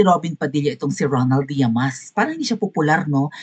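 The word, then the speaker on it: Llamas: Yamas ang pronunciation. Yamas. Pwede rin naman Yamas yata. Double L eh ' ba. Kapag double L parang ano yun e ganon.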